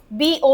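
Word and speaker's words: bow: दूसरा बी ओ डब्ल्यू का pronunciation होता है बाओ। क्या बोली मैं बाओ किसी के सामने झुकना।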